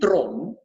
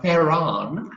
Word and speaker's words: Theron: I mean, in South Africa, people say Charlize Theron because that's how we pronounce Theron.